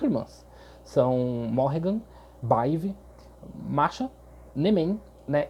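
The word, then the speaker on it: Badb: Se escreve Badib, mas a pronúncia mais correta ali, mais assertiva é Baive, até onde eu sei.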